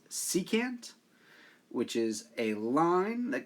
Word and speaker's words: secant: wrong in this image it's not sectin it's secant which is a line